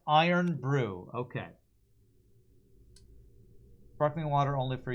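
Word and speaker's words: Irn-Bru: got in this run it's pronounced iron Brew okay sparkling water only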